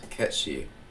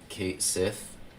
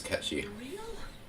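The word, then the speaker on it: Cait Sith: in this Palace I think it's uh it's catchy spelled c-a-i-t-s-i-t-h which people would often say is Kate Sith but that's just not how it's pronounced it's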